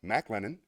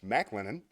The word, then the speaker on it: McLennan: It's McLennan. Now we know. It's like Norm Macdonald. It's McLennan.